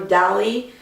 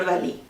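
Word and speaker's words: Dalí: It's about Salvador Dali. Actually, that's not how you pronounce his name. You pronounce that like that in English. In Spanish, it's Salvador Dali.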